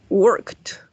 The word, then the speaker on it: worked: Vamos a decir worked. Yes. Esto va a sonar como una T. Worked. Y en este caso va a sonar como una D. Lived.